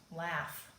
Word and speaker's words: laughs: jailbird word because what do you hear at the end of laughs sounds like that doesn't it sounds like an F laughs but it isn't the GH is making the F sound so this is the jailbird we're - we would put it in jail because it's breaking the rules it doesn't sound like it looks okay and all right